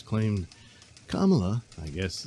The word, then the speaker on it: Kamala: Kamala will be... Uh-oh, I said it wrong, didn't I? It's Kamala.